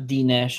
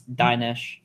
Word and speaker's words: Dinesh: I love how people No, it's not Dinesh. It's Dinesh.